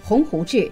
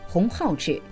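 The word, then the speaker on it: 鸿鹄志: 读错字，将 “ 鸿鹄志 ” 读成 “ 鸿浩志 ”，将 “ 莘莘学子 ” 读成 “ 莘莘学子 ”。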